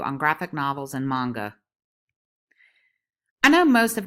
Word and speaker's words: manga: Many people read it and interpret it as manga, but the Japanese pronunciation is manga.